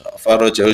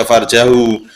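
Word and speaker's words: فرجه: Doa Syiah itu jangan dibaca farjahu. Itu channel Zaini bacanya farjahu, berkali-kali farjahu itu kemaluan maknanya. Dalam bahasa Arab itu adatul Arab dipakai yang faroja, roknya fathah, kalau sukun bahaya.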